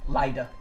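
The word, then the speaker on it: Lidda: Lyda, L-I-D-D-A, which doesn't really make Lyda, but I like that pronunciation better.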